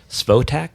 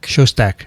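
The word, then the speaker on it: Szostak: Jack Svotak. Shostak. Svotak. Yeah, see, I can't Jack pronounce anything.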